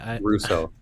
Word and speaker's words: Rousseau: Is that how you pronounce it? Russo. Rousseau.